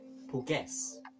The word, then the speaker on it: Pugges: Pugges. Okay? Now we've gotten that done and over with. Now let's go to the alphabet. Okay? So, there are 31 letters in the Pugges alphabet, and I suppose I should start with